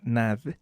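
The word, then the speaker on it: Nagy: más light imre nad se escribe nai ng se pronuncia nad que ese sí va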